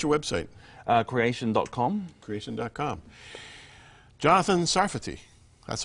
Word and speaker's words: Sarfati: Jonathan Sarfati. That's how you pronounce it.